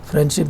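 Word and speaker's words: friendship: फ्रेंडशिप भी बोलते हैं तो इसमें ड नहीं बोलते, ये भी इलिजन है.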